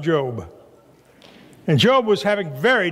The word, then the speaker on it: Job: in the Old Testament it's the book in the Bible that you probably pronounced a job but it's pronounced job and job was having